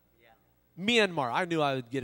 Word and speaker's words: Myanmar: to uh take a group of people into manamar yeah Myanmar I knew I would get it wrong but